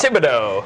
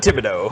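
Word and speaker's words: Thibodeaux: And then for the 5th overall pick, Kayvon, I always get his last name wrong. Please help me out. Thibodeau. Kayvon Thibodeau.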